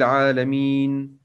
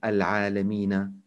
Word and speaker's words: العالمين: Alhamdulillahi Rabbil Alameen. Ar-Rahmanir Rahim. Maliki Yawmiddin. As you see, when I stop on Al-Alameen word, I don't pronounce Al-Alameena. It's wrong to say Alhamdulillahi Rabbil Alameen Ar-Rahman Ar-Rahim.